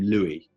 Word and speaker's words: Louis: Yeah, but I don't know if you say "Louie"-Dreyfus, or... I think it's "Lewis" but it's spelled like the Christian name Louie.